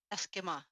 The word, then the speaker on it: Esquimalt: Eskimo.